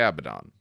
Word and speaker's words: Abaddon: all right Steve did you want to take a baton then which is actually how they say it they don't say Abaddon but either way all right yes I'll take